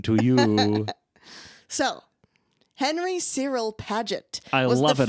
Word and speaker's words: Paget: So, Henry Cyril Paget. I was love the it all. fifth Pageant? Marquis. Yes. Henry Pageant? Cyril Paget. Oh, Paget.